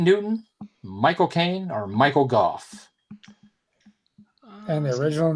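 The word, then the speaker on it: Gough: It's spelled like go or gaw, but I think it's pronounced Guff.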